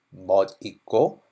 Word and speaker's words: 멋: So if you say the long thing, if you say BTS는 맛있다, means BTS is delicious. So you need to be very careful in pronunciation on this.